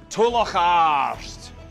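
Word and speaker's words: Tulach Àrd: Today's word is Tolocharst, is the Mackenzie battle cry.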